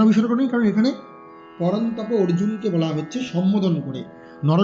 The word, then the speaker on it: অর্জুন: না হয় কেন বিসর্গ নেই কারণ এখানে পরন্তপ অর্জুনকে বলা হচ্ছে সম্বোধন করে নর শব্দের সম্বোধনের একবচনে বিসর্গ নেই নর আছে আমরা বলি আকার নেই পরন্তপা এবার চার নম্বর শ্লোক অর্জুনা উবাচা অর্জুনা উবাচা অর্জুনা উবাচা কথم ভীষ্মে भीष्म अहम संख्ये द्रोणं मधुसूदना